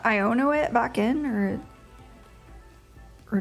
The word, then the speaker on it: Iono: like io's character design I guess You' pronounce her name iono cuz it's like ion this guy is really